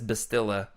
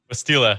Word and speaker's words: Bastila: Bastila, of course, or if you're Freddy who says Bastilla, like he doesn't know what he's talking about. Isn't that how you say it, Freddy? Bastila, yep, that's it.